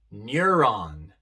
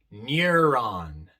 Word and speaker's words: neuron: ejemplo en palabras como neuron neuron europe europe e e vemos que aquí la e se pronuncia de forma larga i pero la u también se pronuncia neuron europe eulogy el